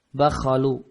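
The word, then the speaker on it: بَخَل: Bacanya baknya di fathah, kha-nya juga di fathah. Bakhalu.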